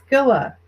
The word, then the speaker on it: Scylla: The Scylla, I know is pronounced that way. It's s c y l l a.